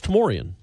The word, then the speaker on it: Tamorian: So that's Tamorian. If it comes after the M, it's Tamorian.